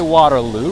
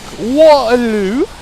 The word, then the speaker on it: Waterloo: guys pronunciate is Waterloo so we say Waterloo right you guys are like Waterloo I love it yes